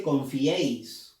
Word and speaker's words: confiéis: No hay otra forma mejor que descartar o darnos cuenta de lo correcto si no pronunciamos. Tienes que pronunciar. Confiéis. Nadie dice confiéis, no. Dice confiéis. Entonces, confiéis. La E lleva fuerza de voz.